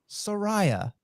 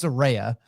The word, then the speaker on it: Saraya: giving my comeback 2-1 Soraya or Saraya depending on how she says she pronounces and like the dictionary tried to correct her and she's like you it's my name yeah it's Soraya uh so I'm excited